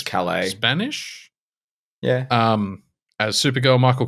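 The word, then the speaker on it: Sasha Calle: I don't know how to pronounce her surname, unfortunately. It seems it's Calais.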